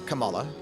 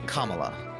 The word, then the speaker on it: Kamala: One, it's Kamala, not Camala.